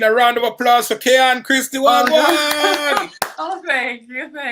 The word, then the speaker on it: Kayonne: Kayonne, sorry, am I pronouncing your name correctly? Yeah, Kayonne? you are, Kayonne.